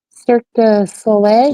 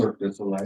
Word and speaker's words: Cirque du Soleil: Cirque du Soleil. Cirque du Soleil.